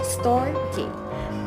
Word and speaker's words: Storge: Next is Storge, pronounced Storge.